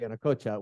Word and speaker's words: Yanacocha: Yeah, it's funny because normally I would say Minera Yanacocha, which is more of a Spanish pronunciation.